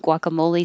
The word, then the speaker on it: guacamole: get that's it but this one we do round our lips gua guacamole they don't taste like